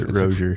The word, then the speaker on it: Rozier: It's like Frasier, but Rozier.